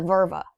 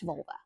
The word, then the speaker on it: Völva: She was known as the Völva. The Völ- the Völva. It's a hard word. It's spelled like vulva. It is not pronounced vulva.